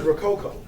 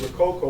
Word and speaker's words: Rococo: Then there's Rococo. Rococo is basically, again, something similar to steampunk, but it takes place in a 17th century perspective. You know, like pirates, swashbucklers. It's based on the word Rococo, which was a style of architecture that was